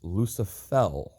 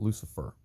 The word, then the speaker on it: Lucifel: game lucifel shows up I didn't mispronounce that and it's not mistranslated her name is lucifel not Lucifer yes the devil's a